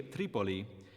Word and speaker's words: Tripoli: plural vengan they came the name of the city Tripoli is stressed on the antepenultimate or third syllable from the end like a few other